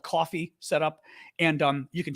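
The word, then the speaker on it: Ko-fi: site that's Coffee, except it's spelled kind of funny, but I'm not going to spell it because the TikTok algorithm gets very upset when you mention outside things, but it's pronounced Coffee.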